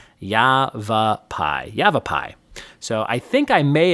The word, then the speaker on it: Yavapai: And according to the screenshot Stacy sent me, it is Yavapai. Yavapai.